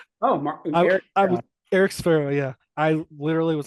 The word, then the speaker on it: Sferro: know where is it it's sparoh right am I saying it right yep you're saying it right okay perfect so I